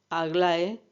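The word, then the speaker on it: Ἀγλαΐα: Suele admitirse que los nombres de las cáites o gracia sean esplendor, alegría y alborozo, que en griego se pronuncia aglae, talía y eufrosine.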